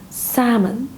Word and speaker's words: salmon: So you have to pronounce this fish's name as salmon. There is also L silent.